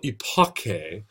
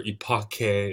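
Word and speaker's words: epoché: says, quote, "The philosophical epoche," and this is the Greek term that Husserl uses, and it's just epoch or epoche is the way you'd pronounce this.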